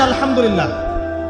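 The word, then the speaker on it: الحمد لله: আলামিন এইতো আপনি পড়ছেন আলহামদুলিল্লাহ শব্দটা কি আলহামদুলিল্লাহ এই হা এর মাখরাজ কোথায় হা এর মাখরাজ কোথায় বলেন একজন কণ্ঠনালীর মাঝখান থেকে এখান থেকে আপনি উচ্চারণ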